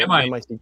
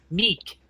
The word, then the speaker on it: Mic: So M-I-C-K. It's M-I-C. Mick. It's pronounced Meek.